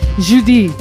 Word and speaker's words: Judy: Judy you're speaking French I prefer the French pronunciation Judi Judi well poor qua